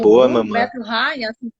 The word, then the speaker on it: Bettelheim: Bettelheim, assim que pronuncia.